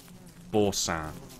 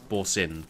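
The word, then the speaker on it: Boursin: of cheese called uh Boran borin it's it's it's it's it's pronounced different from how it's spelled it's like b o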